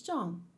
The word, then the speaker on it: Jean: John. I don't know how to say his fucking name. John. John. It's John.